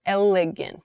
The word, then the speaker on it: elegant: AR arrogant arrogant um but here with elegant we're starting with a more horizontal sound l l elegant like an elephant right elegant elephant oh